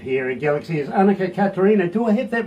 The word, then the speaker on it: Catharina: And we kind of just grew up pronouncing it Annika Catharina, but I think the way it's supposed to be said is Catharina. It comes from my Dutch Oma.